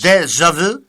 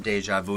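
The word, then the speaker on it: déjà vu: You got to say it like you're French. Deja vu.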